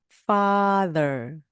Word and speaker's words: father: 강하게 나와야 됩니다 파 그리고 뒤에 있는 th 1요 치아 사이로 혀가 살짝 나왔다 들어가면서 목이 울리는 the 그대로 따라해 보시기 바랍니다 father father더라고 하지 마시고 영어 발음 여러분이 아버지란